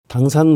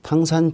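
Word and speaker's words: 唐山: 당산 모델 한 바트의 글로벌 산악 협력 모델 중에 그 탕산 적이죠 우리말로는 당산 중국식 발음으로는 이제 당산이 되겠습니다 탕산 지역은 어 좀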